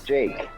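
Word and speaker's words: Jaqe: of a different type of skin and that's jake and his name is spelled j-a-q-e jake that's an original name is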